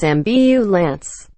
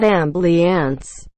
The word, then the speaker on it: ambulance: on ambulance can't pronounce it is mbu lance it's not ambly ants my wife hates when